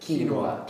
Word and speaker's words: quinoa: How do you pronounce that? Quinoa. Quinoa, yeah.